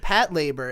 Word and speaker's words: Patlabor: It's just funny because I started saying it Pat labor, and people were like, "Oh, are you sure that's the right way to say it?" And I'm like, "The answer is yes.